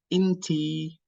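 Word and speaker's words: إنتي: So, inta, inti, inta, inti, and it's a long E at the end, or Y.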